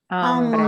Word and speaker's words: hambre: And here's a word that is not hombre, it is Hambre. hambre. Hambre. And notice, hambre means hunger, hombre means man.